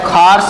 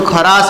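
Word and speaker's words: Kharasch: या एने कहवाय खार्स इफेक्ट. शू कहवाय? खार्स effect. English में वाँचो तो खरास इफेक्ट है वंचाशे, बाकी एनु प्रोनाउंसिएशन है खार्स.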